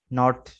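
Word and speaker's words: knot: तो rule number 1 बता रहे हैं कि के is silent in the following words, कि दर्ज झेल अल्फाज में के साइलेंट है। ठीक है, ये देखें के को रेड से हाईलाइट किया है। Knife, knee, नॉट, नो, नॉक, night, नॉब, नील। ठीक है, के सब में साइलेंट है।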